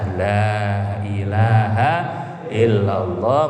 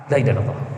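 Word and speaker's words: لا إله إلا الله: Wa maddaha itu dipanjangkan lanya, dipanjangkan. Maka biasanya kiai-kiai kalau istighotsah mohon pertolongan 3 kali pertama bacanya panjang, la ilaha illallah.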